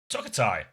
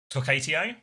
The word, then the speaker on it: Tokatio: Tokatai, have I just been saying your name wrong this whole time? Tokatio? Tokatio is, yeah? Fuck. Tokatio, is that better?